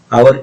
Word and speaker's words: hour: in an hour, आवर etch से शुरू हो रहा है लेकिन प्रोनाउंसिएशन वोवेल जैसा है, इसलिए एन आवर होता है।